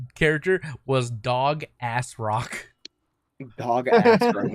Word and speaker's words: Dogasrok: Dog Ass Rock. But it's spelled DOGASROK, so Dog Ass Rock.